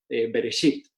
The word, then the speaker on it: Bereshit: es como aparece aquí, y la segunda parte, Bereshit, se pronunciaría prácticamente como se pronuncia la palabra hoja o sábana en inglés, ¿verdad? La palabra sheet, Bereshit.